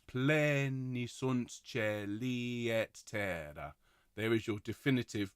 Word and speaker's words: terra: Let's have the double T in there to just make sure it's really clearly enunciated. Pleni sunt cieli et terra.